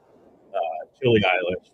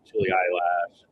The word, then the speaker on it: Chili Eilish: We have the Chili Eilish, which people are like Chili Eyelash.